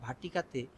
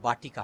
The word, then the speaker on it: বাটিকা: আচ্ছা, এটা গোষ্পদে একটা আকাশ যেমন দেখা যায়, ছোট্ট একটা ভাটিকাতে, ভাটিকা বলবো না, আমাদের বাটিকা হবে উচ্চারণ, ওরা ওয়াটিকা বলে, ভাটিকা, আমরা বলবো যে বাটিকা বাংলা বাটিকা।